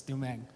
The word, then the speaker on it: Dumeng: It's Dumeng. Dumeng?